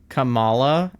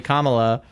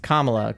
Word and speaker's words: Kamala: probably pronounce that like where we put emphasis on like the second syllable versus putting emphasis on the first syllable. But as soon as she was like, "Hey, it's actually Kamla."